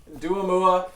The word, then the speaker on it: Doua Moua: like no that person yeah it rhymes so yeah think of dualipa which i'm kind of like dualie but still my name dude it's been such a pleasure having you uh folks duamua this has been season